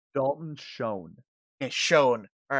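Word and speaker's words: Schoen: carter you're a bomber guy how do i pronounce this guy's name dalton shone and shone all right yeah so dalton shone is a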